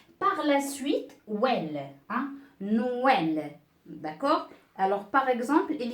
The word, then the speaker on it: Noël: On ne dit pas nel, hein, nel, non. Donc, on marque no tout d'abord, on marque no, d'accord? On dit no. Par la suite, well, hein, Noël, d'accord?